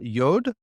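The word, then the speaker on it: יוד: set that's it uh yod and it's just the yep sound so Y sound a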